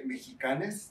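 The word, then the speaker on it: Mexicanx: In Spanish, we will say Mexicanes. The X is pronounced as an E.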